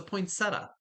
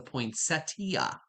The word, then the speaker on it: poinsettia: They're like, "It's a poinsetta." I'm like, "No, it's a poinsettiia."